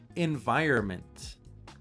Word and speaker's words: environment: So, let's eliminate the letter N. Environment. Maybe you can hear it, but there's no N sound in my pronunciation. Environment. Environment.